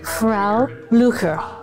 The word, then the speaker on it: Frau Blücher: Frau Blücher. That's how you pronounce it.